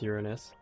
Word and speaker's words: Uranus: And yes, it's pronounced Uranus.